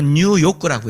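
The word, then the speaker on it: 入浴: 목욕탕은 일본어로 뉴요크라고 해. 뉴요크. 그러니까 그 사람들이 아이디로 발음이 비슷하니까 뉴욕이나 뉴욕 같으니까 거기다가 이제 커다란 자유여신상을 갖다 놓으면서 많은 관광객들을 끌어모으고 그런 스토리 메이킹을 하는 거죠.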